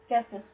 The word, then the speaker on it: Justice: It looks like Just, but I don't think that's how you pronounce it. Justice. No, it is Justice.